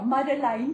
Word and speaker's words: Madeleine: Madeleine says I must say her name in Afrikaans. Ja, Madeleine.